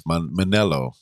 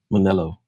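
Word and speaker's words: Mennello: Forgive me if I pronounced this incorrectly, but it's Manelo. Manelo.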